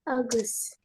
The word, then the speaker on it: August: Of ya, of August. August bacanya. Nggak apa-apa sih. August. August. August. Oh, Oh, oh, August. Pakai O, oh, O, O. O aja, bukan O, bukan O.